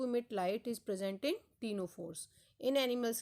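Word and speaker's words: Ctenophora: Next phylum है टीनोफोरा. यहाँ पर सी साइलेंट रहता है.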